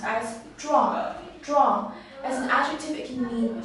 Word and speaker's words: 壮: this character is pronounced as drawn drawn as an activity meaning strong where drama